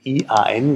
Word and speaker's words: Ian: Also Ian, I-A-N, das sieht dann in Deutschland, denkt, es wird Iron ausgesprochen, aber Iron ist Eisen.